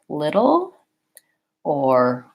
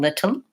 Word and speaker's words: little: only one sound there the little sound I'm not saying little the two with the front now I'm saying little o with that kind of uh L sound so then it kind of functions like it's own syllable I can break it